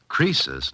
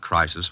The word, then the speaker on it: Croesus: Croesus, not Crisis, was a rich king.